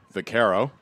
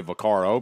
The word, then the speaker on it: Vaccaro: Vaccaro. Some say Vaccaro, but evidently the pronunciation is Vaccaro.